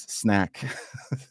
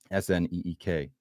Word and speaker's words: Sneek: Is that why you pronounce snake as snack or snack, as I was saying it, when it's far closer to snake, SNEEK?